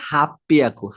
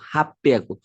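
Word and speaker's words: はっぴゃく: ঠিক একইভাবে 800 মানে হচ্ছে হাপ্পিয়াকু, হাপ্পিয়াকু। তো এই ছোট সুর কারণে এটা কিন্তু ডাবল উচ্চারণ হবে, হাপ্পিয়া, হাপ্পিয়াকু।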